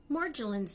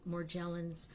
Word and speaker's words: Morgellons: Morgellon's disease. This is first of all, it's a difficult pronunciation. You've probably heard it, Morgellons, but my most recent understanding of the pronunciation is Morgellons.